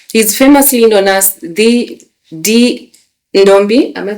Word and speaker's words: Ndombi: He's famously known as the Ndombi. Am I pronouncing it right?